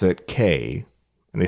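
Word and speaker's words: Cay: they and the reason they pronounce it K is because their tagline is have a perfect day at CoCo K and this this irritates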